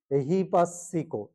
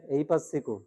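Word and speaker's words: ehipassiko: আকা এবার দেখো এহি এহি পাসিকো অনেকে কি বলে ফেলে এই পাসিকো কি বলে এই পাসিকো কোন কুলে হলো না কোন দিকে গেল না এহি পাসিকো এসে দেখার যোগ্য অন্ধভাবে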